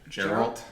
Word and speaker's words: Geralt: How do you pronounce that? Geralt.